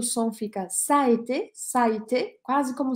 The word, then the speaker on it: ça a été: que é a expressão ça a été, ça a été. Olha a pronúncia disso, já escrevi aqui no YouTube e no Facebook. Ça a été, tem dois A's, né?